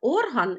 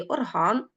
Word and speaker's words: орган: атлас блискуча тканина так орган і орган орган - це частина організму орган музичний інструмент скликати скликати плачу від слова